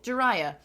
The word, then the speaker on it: Jiraiya: Jiraiya. Is how you say it. It's easy enough once you know. What does this guy say? Let's get a second opinion. Jiraiya. Okay, cool. Jiraiya.